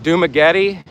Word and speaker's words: Dumaguete: You mean Dumaguete? Dumaguete? Is that what you're saying? How do you pronounce the town?